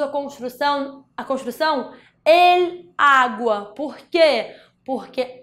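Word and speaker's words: agua: construção A Construção em Água porque porque água em espanhol a sílaba forte a sílaba tônica é a primeira é um A então para não ter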